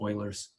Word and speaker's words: Euler: second one is called euler's chain rule this is pronounced euler's you'll always look like a newbie if you pronounce this euler but it's oilers and euler's is written